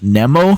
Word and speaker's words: Nemo: From Sweden, we move to Switzerland, who are being represented by Nemo with the song The Code. Some people have also pronounced their name as Nemo, which is also an acceptable pronunciation.